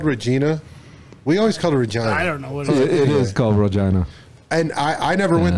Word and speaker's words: Regina: so there's a town there called Regina oh sounds like well Regina Regina it's the town that rhymes with vagina um no in any way you go there and it's called Regina and I I never